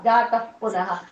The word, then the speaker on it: जातः पुनः: एवं देव चतुर्दशात्मकं जगत् रूपेण जातः पुनः जातः पुनः. तः पुनः வரும்போது பக்கத்துல பா வரதுனால எஃப் ப்ரொனவுன்ஸ் பண்ணணும். जातः पुनः.